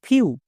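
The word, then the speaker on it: few: না বোঝা গেল next F ই ডব্লিউ ফিউ ডি ই ডব্লিউ ডিউ এম ই ডব্লিউ মিউ সো ই ডব্লিউ এর জন্য আমরা ইউজ সাউন্ড করবো যেমন ফিউ ডিউ মিউ তাহলে যাদের ইংরেজি রিডিং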